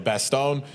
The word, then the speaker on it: Bastogne: Now, how do you say Bastogne? Do you say Bastone or you say Bastogne? All right, so you say it the right way. Yeah. So Bastogne. You got, you could say Banel, but Panella's that's fine.